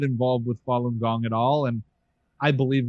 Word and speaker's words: Falun Gong: cult so i i don't know how to pronounce it filong oh falun gong falun gong yeah yeah what was it let's